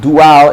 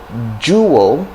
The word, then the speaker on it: jewel: actually overriding the other so we have jewel did you hear what i say jewel jewel road so it's not dual it's not dwell road but jewel now you can say duo